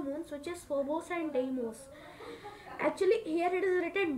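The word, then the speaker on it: Deimos: is having two moons which is Phobos and demos actually here it is written Daimos but we pronunciate like demos therefore the planet is the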